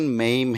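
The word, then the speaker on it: maim: तो इस वर्ड की प्रोनाउंसिएशन मेम है।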